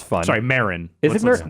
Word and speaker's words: Marin: Valley and Oakland and Marin I it's fun sorry Marin is it what's the right one Mar it is Marin different characters pronounce it differently in the game on top of that